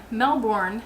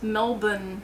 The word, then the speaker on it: Melbourne: I've been saying Melbourne, and they said that the or part is silent, or the o part is silent, so it's Melbourne, something like that.